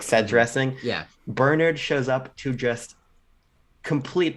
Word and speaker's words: Bernard: you get to the real crux of the issue being Barnard, whatever his fuck name is, Bernard. who shows Bernard. He says Bernard is how they say it.